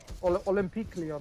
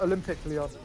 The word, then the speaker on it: Olympique Lyon: It's the French side. It's Lyon, Olympique Lyon, I think it is. Yeah. In English, it's basically like Olympic Lyon.